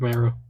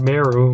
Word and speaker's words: Mero: And she's gonna be like Mark Mero, more like Mark Zero. His name doesn't rhyme with zero, sadly.